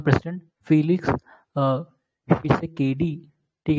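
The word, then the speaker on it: Tshisekedi: फिर D R Congo का president Felix शिसेकेडी। ठीक है, टी साइलेंट है उसमें, फिलिक्स शिसेकेडी, ये कॉन्गो के प्रेसिडेंट हैं।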